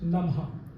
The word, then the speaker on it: Namaha: On a la Lune, dont le mantra est Om Somaya Namaha. En dessous, Mercure, dont le mantra est Om Buddhaya Namaha. Alors, Namaha, mais ça se prononce Namha.